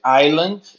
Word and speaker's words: island: Asian and Pacific Island, essa palavra é interessante, ó, island. A gente não pronuncia o S, tá?